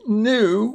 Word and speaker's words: gnu: And the last one is a gnu, which is a large, dark African antelope.